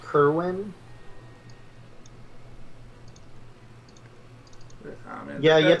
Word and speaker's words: Kerwan: Actually pronounced Kerwin.